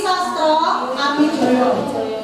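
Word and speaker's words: Sastroamidjojo: Ali Sastro Amijoyo. Tulisannya Mijojo, tapi bacanya Mijoyo ya.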